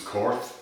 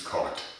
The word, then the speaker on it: Korth: Now, I know that Americans would probably like to pronounce as Corf, but the correct German pronunciation is Cart.